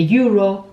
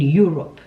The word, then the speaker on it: euro: is pronounced differently to the combination of vowels in English. Let me give you an example. How would you pronounce this, which is the currency we used in the continent I'm in? Sorry, a bit of geography. So we use the euro in Europe.